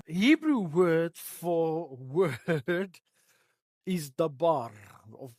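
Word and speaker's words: דבר: word for word is dabar of they also pronounce it like davar and it means it's a deed.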